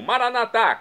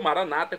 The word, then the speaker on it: Maranata: aramaico dialeto de Jesus eu clamo maranat como dizemos nós católicos ou Maranata como dizem nossos irmãos separados os evangélicos ou protestantes não importa pronúncia o significado é o mesmo vinde Senhor Jesus um